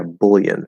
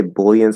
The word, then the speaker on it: bullion: gold but um yeah bullion i think some people say bullion some people say uh see yeah this is one so the the the last syllable there it could be it or a just like a lot